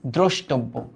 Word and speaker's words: দ্রষ্টব্য: এবার দেখো দ্রষ্টব্য, এটা কিন্তু একটু কঠিন, হ্যাঁ রফলা যদি শুরুতে বসে ওটা ও যুক্ত হয়, অ এর সাথে বসলে ওটা অ এর সাথে যদি বসে তবে ওই উচ্চারণটা ও যুক্ত হয় বা সংবৃত হয়। তাহলে এটার উচ্চারণটা হবে দ্রষ্টব্য না কিন্তু দ্রোষ।